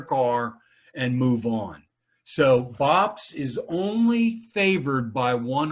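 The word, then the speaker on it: BOPIS: so much jennifer okay what is bops that's how you pronounce it bops it's the biggest thing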